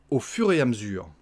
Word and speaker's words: au fur et à mesure: Au fur et à mesure. Hein, on mange des lettres, comme d'habitude.